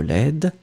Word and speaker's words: laide: Final D is not pronounced at all. But then when it will be the feminine form, you will pronounce the D because you add this laid.